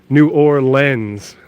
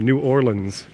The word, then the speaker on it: New Orleans: up it's actually pronounced new or lens like like the lens of a camera New Orleans at least that's how